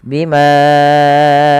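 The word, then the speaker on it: بِمَا: Bima dasarnya dua harakat. Ketemu hamzah setelahnya dan hamzah di lain kata maka dinamakan mad jaiz. Panjangnya empat atau lima harakat.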